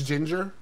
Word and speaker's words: Jinjer: into that and that that's how you pronounce it it's ginger yes i like that